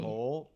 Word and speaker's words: whole: whole. What about the pronunciation here?